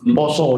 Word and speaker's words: Pasa: Artinya, bulannya adalah Pasa, Pasa, Poso, begitulah cara membacanya.